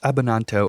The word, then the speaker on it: Abbananto: origin story the abananto origin story that name is just fun to pronounce now that we talked about how to pronounce it it kind of sounds like banana which makes sense for